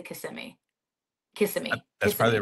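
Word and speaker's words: Kissimmee: a city that's next to Orlando is it pronounced kissm or CMI cimi okay that's what I figured I that's what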